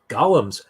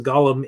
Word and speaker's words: Golem: golum um of course the gollum is or Golem I believe is maybe how it's correctly pronounced is a creature artificially